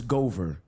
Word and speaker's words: Goover: like true story major so my name is Gover so they said what yeah Gover so they